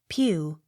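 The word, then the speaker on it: Pugh: a c t pomfret p u g h pew p y t c h l e y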